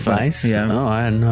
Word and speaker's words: Weisz: Cuz she Rachel Weisz? Yeah, that's how you say it. Weisz? No, it's the it's the it's It's Weisz?